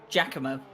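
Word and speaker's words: Giacomo: I say Gakamo's nameo Jakamo. Jakamo. Priet. So, so, so pronounce it. Pronounce it as if there's no G I A. Pronounce it if it's just J A.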